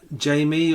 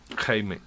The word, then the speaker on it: Jaime: Is it pronounced Jamie or Jaime? Given it's Spanish, Maussan. Jaime, yeah.